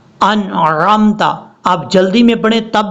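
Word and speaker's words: أنعمت: انعمت پڑھیں گے تو نون کے بعد جو عین ہے یہ عین نہیں پڑھا جا رہا، حالانکہ ہم نے اس کو پڑھنا کیسے ہے، اس کا ٹھیک تلفظ یہ ہے انعمت، انعمت، آپ جلدی میں پڑھیں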